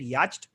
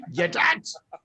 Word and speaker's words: yacht: By the way, on a side note, like I remember I didn't say yacht, I had said yacht. And Yetach.